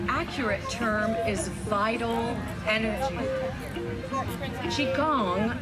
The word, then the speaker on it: qigong: term is vital energy qigong sometimes pronounced chi kong is the science of